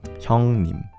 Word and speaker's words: 형님: 형님. That's the pronunciation.